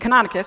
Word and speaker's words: Canonicus: Montanomy, thank you, and Canonicus, I got that one right.